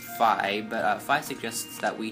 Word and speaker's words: Fi: It's not pronounced Fee. Pretty sure it's pronounced Phi, but Phi suggests that